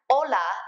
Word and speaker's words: hola: pronunciation reminder remember that you don't pronounce the H's when they come at the beginning of a word like Ola is hola and not